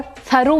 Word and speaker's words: thorough: नाउ THOROUGH को थरो भी बोल सकते हैं और थरो भी बोल सकते हैं, दोनों प्रोनाउंसिएशन ठीक है।